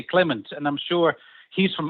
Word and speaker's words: Clement: I'm aishi Dutch and the Dutch people would would never say clemon they would say Clement and I'm sure he's from Anor which at the Dutch speaking area they would say Clement as well well but